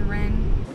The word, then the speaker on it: Ryn: together as well yeah she has like a rin has a little nickname like ryan rin because it's spelled r-y-n and i i just called her ren but her name's rin what bro what are